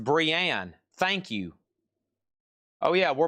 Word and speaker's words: Brienne: Renee of Tarth. I don't know anything about that. $19.99. How much? This is just $19.99. Golly, Chad, just $19.99. You got that straight from Funko. It's pronounced Brienne.